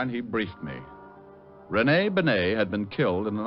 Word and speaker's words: Bené: It's pronounced Bené, not Benny. That idiot was calling him Rene Benny. Walt, how did you know I was working for Bené?